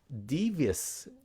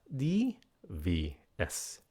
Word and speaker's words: devious: Devious, phát âm nha. Devious. Devious. Các bạn nhấn cái âm đầu.